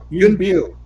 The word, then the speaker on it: Yuen Biao: patsing around and Now, how do you pronounce his name? Do you pronounce it Young Biao or Young Biu? Young Biu. Biu.